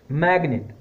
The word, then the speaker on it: magnet: But there are some exceptions as well, like magnet, M-A-G-N-E-T. Even though G is before M, it is pronounced magnet.